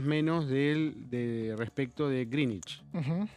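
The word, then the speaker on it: Greenwich: Si hay alguien que algún profe de inglés cerca que me corrija, los nombres propios no tienen reglas y Grangwich, como decimos acá, se dice Greenich.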